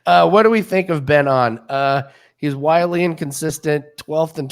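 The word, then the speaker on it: Byung Hoon An: Is it Ben On or is it Byung Hoon On? Because it depends on what announcer we get. But I think Ben On is the way to pronounce it.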